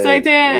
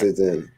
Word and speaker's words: seitan: Yeah, it's not Seitan. It's Seitan. I mispronounced it.